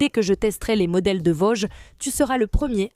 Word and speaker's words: Voge: le nom de l'entreprise qui n'est pas Voge. Vog. Vog, c'est le magazine. J'ai demandé à Marie Stella, la conseillère la bonne prononciation. C'est Vog parce qu'en fait ça vient du chinois Wii qui signifie sans limite. C'est pour ça que c'est Voge. Tu as appris c'est Voge.